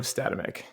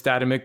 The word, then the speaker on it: Statamic: The original intention was Statamic, but I think most people say Statamic because that's what it looks like.